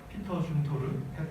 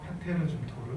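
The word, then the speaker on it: Peter Zumthor: 특히 이제 이 피터 줌토르, 페테르 줌토르, 뭐 불어식으로 또 독어식으로를 발음이 조금씩 다 달라가지고, 줌토르 같은 경우에 이 분위기라는 표현을 굉장히 잘 쓰죠.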